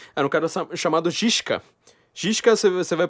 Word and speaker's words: Žižka: Žižka você vai pronunciar, você escreve como Z-I, aquele Z com igual do Slavoj Žižek, né?